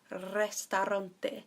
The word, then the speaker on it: restaurante: El restaurante. So there is a lot of R's being rolled there.